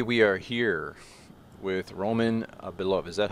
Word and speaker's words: Belov: All right, everybody, we are here with Roman Belov. Is that how you pronounce it?